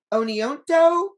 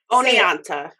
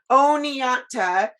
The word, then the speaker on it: Oneonta: and i might say this wrong is it oneonto how do you say oni oneonta oneonta um and but what's really fascinating about sheena